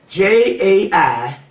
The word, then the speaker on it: Jai: You need to get a guy by the name of J-A-I, that's his first name, Jai Uttal.